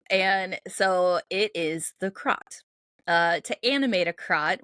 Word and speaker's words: Kratt: So, I'm going to talk about the crot. I think that's how it's pronounced. Um, my little pronunciation guide has a a h in it, and to me, that is an a.